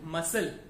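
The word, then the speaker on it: muscle: सी आ रहा हो, एज इन मसल एम यू एस सी एल ई, एज in miscellaneous, as in Saint, as in decent, तो ऐसे word में हमारा एस सी में सी साइलेंट रहता है, हम सिर्फ एस प्रोनाउन करते हैं.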